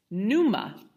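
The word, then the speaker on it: pneuma: word of course and it's numa but there's a silent P at the beginning like Numa we get the word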